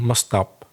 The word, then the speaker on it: must stop: He said, I really must stop smoking, must stop. So the T of must seemed to disappear.